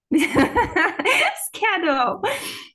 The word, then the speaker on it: schedule: Yeah, By because the way, it's not D, it's J. Yeah, it's schedule. confusing because it's D, but it's J. English is a funny language. Schedule. It's pronounced as J.